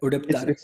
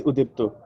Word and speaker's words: Udipto: Am I pronouncing your name correct? Udipta. It's Udipto. Udiptur.